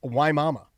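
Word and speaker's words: Wimauma: She said it's pronounced Y Mama.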